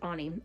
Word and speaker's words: Ani: As a teenager at the prestigious Bradley School, Annie Finelli Ani Finelli, I forgot it's pronounced Ani.